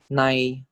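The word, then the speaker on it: ใน: This is pronounced as chai. Next, this is nonu, sara'ai mai muan. So this is nai, nai.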